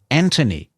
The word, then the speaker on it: Anthony: pronouncing Anthony's name Anthony, which is how they pronounce the name in the UK. We don't pronounce it that way, and nor does the US, and I don't think Australia does either. We say Anthony, but in the UK, they pronounce it Anthony.